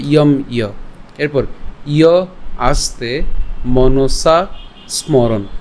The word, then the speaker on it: মনসা স্মরণ: এই যে দন্তাস যেটা আছে এ দন্তাসটা পূর্বের দন্তাসের সাথে উচ্চারণটা করে ফেলতে পারেন।